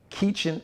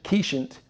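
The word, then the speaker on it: Keechant: will congratulations to kiechen i believe she pronounces it kiechen keishant keishant sule the first female police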